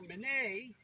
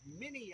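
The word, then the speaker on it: Minié: a French ordnance officer, Minet, often mispronounced Mini in this country, and he developed an elongated ball that was slightly smaller than the bore of the rifle.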